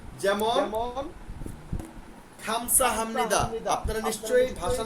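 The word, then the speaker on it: 감사합니다: কথাই আমি শুনতে পাইছি তারা এটাকে বলে গামসা হামনিদা খেয়াল করে দেখেন এটার অরিজিনাল উচ্চারণ হচ্ছে খামসা কিন্তু আপনি যখন বলবেন গামসা হামনিদা কারণ কি এটাকে সবাই বলে গ আপনারা যখন বেসিক বই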